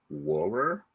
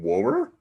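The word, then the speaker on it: Wuhrer: Julian Anderson auditioned for the role of Denise, but she lost it to Carrie Wower. Like literally, that's how you pronounce her name. Wower.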